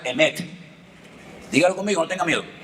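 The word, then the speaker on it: אמת: La palabra verdad se la voy a enseñar para que aprendan a decirla en hebreo se pronuncia emet.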